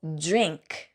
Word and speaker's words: drink: drink 발음할 때는 드링크라고 하지 않고 지읒 발음으로 drink.